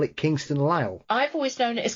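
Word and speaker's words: Lisle: Kingston allele and somebody else call it Kingston Lyle I've always known it as Kingston Lyle yes I've never heard it referred to as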